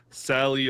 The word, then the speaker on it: Salei: Yeah, it could just be Sally. Yeah. Sally, our linked kid. I think that's good for now. But it's spelled Salei. Okay. There. The medieval spelling. Right. Yeah. The traditional Old Norse.